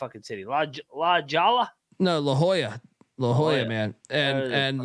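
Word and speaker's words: La Jolla: Titan tritons Triton keyboard um how do you pronounce that City la lala no La Hoya La Hoya man and and La Hoya uh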